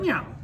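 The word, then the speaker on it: 妙: and in China is Miao. Yeah. Meow, like kitty almost. Yeah. Meow. Meow.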